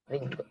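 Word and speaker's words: りんご: Ringo. Kita bacanya ada double D, double G minasan. Double G. Ringo.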